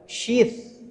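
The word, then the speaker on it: شيث: Jangan salah sebut karena tulisannya nanti S Y I S, bukan sheet. Ah, bukan ts itu kan kalau dalam apa huruf latin itu bacanya tsa. Tsa. Huruf tsa. Jadi syit alaihissalam.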